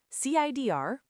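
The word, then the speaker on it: CIDR: CIR pronounced like the drink CER is the conference on innovative data systems research.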